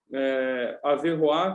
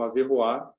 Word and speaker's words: Averroes: Então, na Universidade de Paris mesmo, o Averroá, se escreve Averroes, ele já vai contar com seus alunos, né?